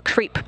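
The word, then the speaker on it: KREEP: they have a weird component that we call creep and it's spelled k r e e p and Central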